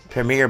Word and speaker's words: Premier: Premier Ball Premier bom I remember how I used to call it the primier ball all the time back in the days uh it's a good thing I learn how to say it properly now oh my God